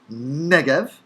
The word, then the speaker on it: Negev: beginning of the form note that it's written with a b in the anglicized form uh but we would still pronounce it in hebrew negev because the bate is spiritized not stopped noon as with cough as with